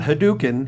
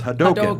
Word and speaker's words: Hadouken: told me it's like it's not hadouken it's hadoka it's like yeah okay